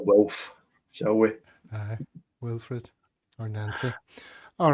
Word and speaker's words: Wilfried: So you can avoid any French pronunciation there. You'll be pleased about that. Although it is Wilfried, Stephen.